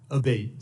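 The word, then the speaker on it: Abbate: I saying your name properly we've heard it pronounced three different ways today in the hearing aate Senator aate okay thank you um you had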